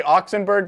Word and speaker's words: Oxenberg: just put oxenberg you say oxenberg that's how you say your last name uh yeah you could